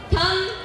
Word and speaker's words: thumb: As you can see in thumb, we have the last word B, but actually the B is silent, so it has to be pronounced as thumb, dumb, and numb.